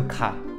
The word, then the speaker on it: 가: On va tout de suite commencer par le premier, c'est le ka. Alors déjà, il va falloir bien le prononcer. Ka, ka. Pour moi, le ka, c'est un peu comme c'est qui.